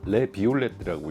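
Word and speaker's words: Les Violettes: 오, 산도 엄청 좋고, 이 와인은 레 비올레트라고 읽으시고 슈발리에 몽라제라고 생각하시면 됩니다.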